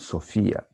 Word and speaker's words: Sophia: Ich bin Sophia, not Sophia. In German, S is pronounced like Z. Okay, very important.